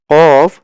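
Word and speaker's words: ق: আর কফ, কফ উচ্চারণ হবে হচ্ছে জিহ্বার গোড়া। এই যে আমাদের এটা তো জিহ্বার আগার অংশ, এটা হচ্ছে জিহ্বার গোড়ার অংশ। জিহ্বার গোড়া কি হবে? তার বরাবর উপরের তালুর সঙ্গে লাগিয়ে, এই যে তালুর সঙ্গে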